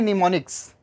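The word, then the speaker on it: mnemonics: हमने एम से लिखा है बट इस वर्ड को प्रोनाउंसिएशन कर रहे हैं निमोनिक्स। एम कॉन्सोनेंट है, एन कॉन्सोनेंट है, ई आपका वोवेल है। देखो ऐसा स्पेलिंग का रूल है कि अगर दो कॉन्सोनेंट के बाद एक वोवेल हो तो पहला कॉन्सोनेंट लिखते ज़रूर हैं बट प्रोनाउंसिएशन नहीं होता है।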